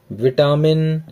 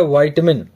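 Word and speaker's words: vitamin: तो right answer is A option number D, विटामिन B1। अच्छा, एक बात बताऊं कि हम लोग विटामिन बोलते हैं, लेकिन अभी जो इंग्लिश इसका सही उच्चारण है, वाइटमिन, वाइटमिन B1।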